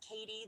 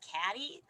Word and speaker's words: Katie: Sometimes people will mispronounce my name. So instead of Katie, they'll say Caddy.